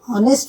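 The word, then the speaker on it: honest: और जब ऑनेस्ट बोलते हैं तब भी आपका एच साइलेंट होता है।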